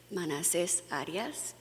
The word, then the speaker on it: Manassés Arias: This is Manassés Arias. Learn the full name. The accent is on the last syllable.